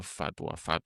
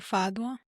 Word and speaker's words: fatwa: Así que se pronuncia eso, fatwa, no Creo sé. que sí, Fadwa. Fatwa, exigiendo la salida del ejército estadounidense de Arabia Saudita.